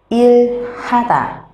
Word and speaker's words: 일하다: chữ h ở trên, nhiều khi người Hàn sẽ đọc rất là nhanh, chữ h sẽ trở thành âm câm.